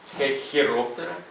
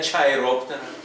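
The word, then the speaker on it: Chiroptera: здається дуплікат маю так комбінація с вимовляється як ха Це Ви добре знаєте хероптера хордата хеліцерата хіроптера хордата хеліцерата Не чайроптера не чордата і не челіцерата будь ласка ть англійці і американці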